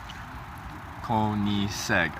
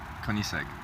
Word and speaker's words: Koenigsegg: Koenigsegg. Okay. Koenigsegg.